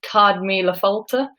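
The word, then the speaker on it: Céad Míle Fáilte: If anyone forgives my dodgy Irish pronunciation, I believe it's pronounced Cad Míle Fáilte, which means 100,000 welcomes, and it's the sort of thing you'd find above, you know, pretty much any Irish pub.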